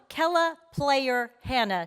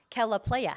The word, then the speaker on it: Kella Player Hannah: this one let's welcome Kella player Hannah not Kella Playa Hannah Hello everybody